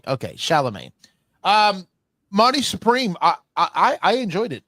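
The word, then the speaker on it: Chalamet: Timothy Shalamé. Chalamé. Okay. Shalamé.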